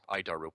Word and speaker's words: ADIRU: as the air data initial reference unit we pronounce it it's horrible name but I'll keep trying idaru is the standard in modern avionics it's at